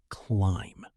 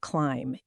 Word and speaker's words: climb: The secret word today is climb, spelled C-L-I-M-B. Excellent. The letter B at the end of climb is silent, right? Yes, exactly. You don't pronounce the B. You just say climb.